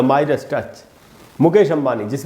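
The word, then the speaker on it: Midas: अच्छा, ये जो वर्ड है दोस्तों, इसको मिडास नहीं पढ़ना है, इसको लोग अक्सर मिडास पढ़ देते हैं, मिडास टच। तो दोस्तों मिडास नहीं है उच्चारण, इसका उच्चारण है माइडस टच।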